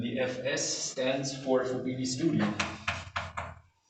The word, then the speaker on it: Study: synthetic horn and the fs stands for bd studios because they were the inventors of a